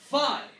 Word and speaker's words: phi: In Greek, typically this letter had a little bit of P in it. Till this day, actually, you hear in modern Greek that it has some P in the F sound. This is a purely F sound. So this is sort of a PF.